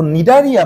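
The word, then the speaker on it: Cnidaria: দেখো, নিডারিয়া বানানটা কিন্তু শুরু হয় ইংরেজি বর্ণমালার সি অক্ষর দিয়ে, সো নিডারিয়া।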